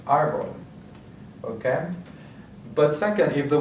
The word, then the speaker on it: árbol: So we have the accent mark on the first syllable, so that's what we're going to emphasize, árbol.